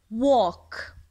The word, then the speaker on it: walk: walk walk walk يمشي يمشي walk يمشي. الفعل walk حرف ال silent letter يكتب ولا يلفظ وعندي walk معناها يمشي.